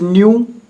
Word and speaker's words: nu: What is nu? The pronunciation is nu.